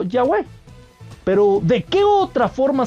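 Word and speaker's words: Yahweh: como llaves o yagüe también las transcripciones griegas indican que el tetra grama ton debía ser pronunciado ya web pero de qué otra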